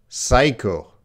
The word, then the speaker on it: psycho: Well, that P is silent. Psycho.